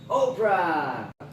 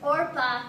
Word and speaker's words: Orpah: a really special guest the one and only Oprah hey thanks for inviting me oh you're welcome well in fact my name is Orpah oh yeah but people mispronounce it